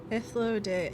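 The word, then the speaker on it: Hythlodaeus: Hythlodeus.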